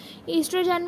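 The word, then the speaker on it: oestrogen: ईस्ट्रोजन में ओ silent होता है बट हम उसे स्पेलिंग में लिखते ज़रूर हैं।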